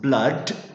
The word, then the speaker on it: blood: This is pronounced blood and this is pronounced stood.